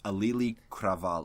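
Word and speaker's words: Auli'i Cravalho: are white bread asses know how to protect pronounce her name its alley kravaal oh there's a native Hawaiian yes she's native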